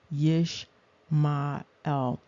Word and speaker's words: Ishmael: you also see that one pronunciation is yes mael and you see the yish ma separated from the L and that is the